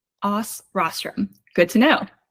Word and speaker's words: OsRostrum: that's cool yeah so how do you actually pronounce it OS Rostrum OS Rostrum good to know it's also a bit of